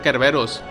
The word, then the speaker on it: Cerberus: por el laboratorio arclight esta criatura pronunciada como la palabra griega en kerberos lleva el nombre del